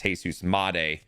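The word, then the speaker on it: Jesús Montero: I I I I can't stand the fact of how we were pronouncing it on the stream. It's Jesus Montero.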